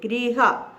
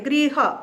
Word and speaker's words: गृह: की मात्रा होती है, गृह। इसका उच्चारण भी र में ई लग जाती है, गृह, गृह का अर्थ होता है घर, ग री ऋषि, और ग्रह ग र ए।